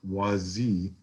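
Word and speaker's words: Wasi: And then the third one is Yah Wazi, W-A-S-I, but the S is pronounced like a Z.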